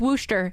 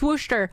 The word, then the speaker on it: Worcester: I just pronounce Massachusetts cities wrong can you pronounce wortherisher or haven hill right Havhill Wooster. It's Wooster. It's Wooster.